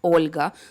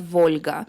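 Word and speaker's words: Volha: way of pronunciation so it's for example not Olga but Volga and so on and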